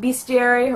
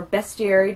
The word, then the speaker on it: bestiary: one its introduction of the complete bestiary or bestie area depending on how do you want to pronounce it the appendix of monsters